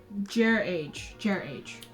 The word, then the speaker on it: Jreije: I know he had a thingamabob where he wrote it out how to pronounce it. Aha, found it. Jreije.